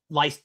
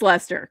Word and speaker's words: Leicester: Well, that's like Leicester in England. Yeah. You think it's Leicester, and it's right. pronounced Leicester. And it's Leicester because that's where, I mean, most of the Massachusetts names are from England.